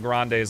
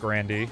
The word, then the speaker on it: Grande: Also, fun fact, Ariana Grande's last name is actually pronounced Grandandy.